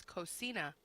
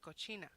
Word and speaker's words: cocina: He was trying to pronounce cocina, which means kitchen in Spanish. And he kept saying cochina, which means dirty, like dirty pig, dirty girl.